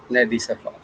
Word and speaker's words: Nedi Safa: So, without any further ado, I invite Miss Nedi Safa. Oh, thank you for pronouncing Hello.